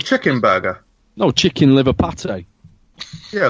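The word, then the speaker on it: pâté: No, chicken liver pate. Yeah, like a chicken burger. Not a patty. Pate.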